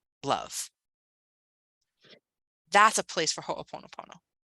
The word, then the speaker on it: Ho'oponopono: If there's anything in you that says this is anything other than divine love, that's a place for Ho'oponopono. How do you spell that? H-O apostrophe O-P-O-N-O-P-O-N-O. Ho'oponopono.